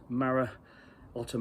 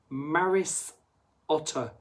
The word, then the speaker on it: Maris Otter: I can even say it's Maris with the S Maris Otter malz you should know